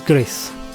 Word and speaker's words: Gris: up your virtual Spurs and number three is GIS from the moment you dive into Gris yeah that's how you say it GIS not how I normally would pronounce it with my arure accent Gris although I do think that sounds better I